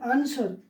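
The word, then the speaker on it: answer: देखिए यहाँ पर आंसर, आंसर, ठीक है, आंसर। देखिए जनरली क्या है कि एस के बाद जब डब्ल्यू होता है ना तो वो साइलेंट होता है।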